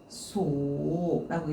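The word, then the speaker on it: 感想: 그때는 이제 앞쪽에다가 느끼일감, 그 다음에 뒤쪽에다가는 생각, 악사 이렇게 들어가서 느끼는 감상은 칸소라고 읽어야 되겠죠.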